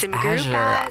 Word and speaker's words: SimGuru Azure: Oh, it's SimGuru Azure.